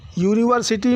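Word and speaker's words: university: जाएगा ए टय यूनिवर्सिटी यूनिवर्सिटी में या का साउंड निकल रहा है या के साउंड से शुरू हो रहा है या कंसोनेंट है अतः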